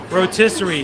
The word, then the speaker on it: rotisserie: it right rotisserie chicken rotisserie rhymes with patisserie and that's where you